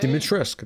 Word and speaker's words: Dimitrescu: Dimitrescu, that's how you say it.